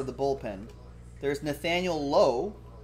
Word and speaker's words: Lowe: the bullpen there's nathaniel lowe who pronounces it low unlike his teammate brandon lau that's weird sherry with